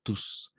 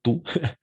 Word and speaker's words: tous: parle espagnol douce ici on va prononcer tous pas tout tous les deux toutes les